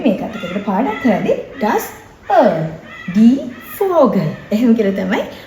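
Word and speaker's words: Öl: das earl. Das earl. All නෙමෙයි.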